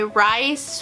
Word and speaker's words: Rhys: And then I started on another book called Once Upon a Wolf by Rhys Ford. I think that's how you pronounce it. It's R-H-Y-S, so I think maybe not.